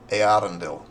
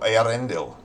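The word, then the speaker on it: Eärendel: It just means that you pronounce the A separately from the E. Earendel. Or Earendel.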